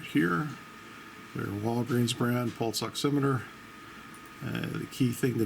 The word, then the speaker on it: oximeter: oximeter provides you know oximeter is from the big book of pronunciation I prefer it over oxy meter but thusly saving your